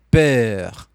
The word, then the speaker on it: peur: Peur. Você tem medo ou você está com medo? Tu a peur.